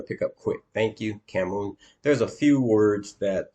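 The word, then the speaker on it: cảm ơn: sure she saw that from something thank you camon uh yes thank you okay uh that that one you're going to pick up quick thank you camon there's a few words that uh that I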